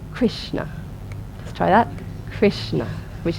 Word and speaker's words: Krishna: example last time of the word Krishna which has got a dot underneath they are the s and the N which means that it's a pronounced with the tongue pointing towards the roof of the mouth Krishna try that so